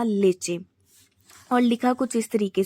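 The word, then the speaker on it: leche: जो main word है हमारा मिल्क, उसको हम प्रोनाउंस करते हैं स्पेनिश में लेचे, लेचे। लिखा इस तरीके से जाता है और बोला इस तरीके से जाता है।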